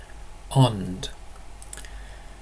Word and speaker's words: ånd: In Lindish, ond. Now note that the letter A, when it comes before an N or an M, is always pronounced O, and it's written as an A with a little circle above it.